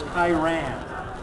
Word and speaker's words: Kyran: Let me get the pronunciation right here. It's a name I don't see too often. It's Kyran.